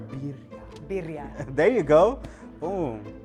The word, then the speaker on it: birria: Birria. How do you say El Sauz? You gotta roll the R. Birria.